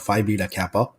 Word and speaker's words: Phi Beta Kappa: the point that you were a member of Phi Beta Kappa, if I am pronouncing that correctly.